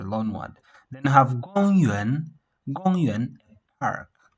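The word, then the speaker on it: 公园: See, this is a high pitch. Then this one, it falls a little bit. So this one is a low pitch, kind of middle. Then it rises up to this point. Yes. Yuan, gong yuan. See? Yes, gong yuan. Then we have this first tone, then plus the third tone.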